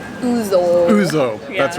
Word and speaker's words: ouzo: Ouzo. Ouzo. Yeah. That's right. So this is It's ouzo. spelled with an O, right?